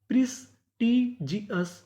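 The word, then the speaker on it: prestigious: यानी आपको इंग्लिश में कहीं पर ओयूएस लिखा मिले तो हम लोग ओ यूएस को पढ़ते हैं अस। तो मीनिंग क्या बनी? प्रिस्टजियस प्रेस्टीजियस प्रेस्टीजियस प्रेस्टीजियस का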